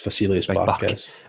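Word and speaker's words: Vasilis Barkas: Barkas, Vasilius Barkas.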